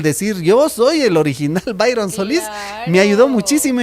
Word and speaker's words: Byron: Que, bueno, se escribe Byron, se lee Byron, ¿no?